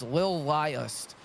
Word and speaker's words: Lilest: It's Lilest is how you pronounce that, Ventes, just in case you didn't know either.